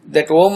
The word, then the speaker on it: Om: Om is one sound only and it is one syllable only. For the sake of our understanding, according to Sanskrit grammar rules, if you split, it does split into these three sounds, A, U and Um.